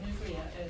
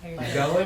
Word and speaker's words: Newsella: I'm just curious what Newslia is. Greg? Yes. Newsella, I mean? Oh. It's spelled Newsella, Newsella?